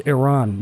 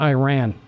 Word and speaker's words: Iran: you haven't taken a real close look at Iran before, that is a big country. So here's Iraq. Look how big this is. And it is Iran, not Iran.